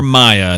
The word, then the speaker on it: Mia: That's for from Mia show. or Maya. It's MIA. I know it can be pronounced either way.